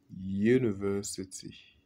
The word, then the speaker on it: university: On dit a university. A university. Bien que ça commence par une voyelle.